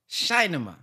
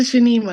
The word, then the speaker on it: Shanima: So it's either Shinema. Assalamu alaikum. Walaikum. Did I say it right? It's Sister Shanima. Shanima.